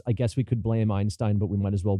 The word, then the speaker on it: Einstein: And again, 40% of the time, the AI says Einstein, which no English speaker says unless they're a prick, basically. Unless they're a prick who wants to show off how great their German pronunciation is. But the fact is, yes, Einstein may have been the guy's name, but the way it's said in North American English is Einstein.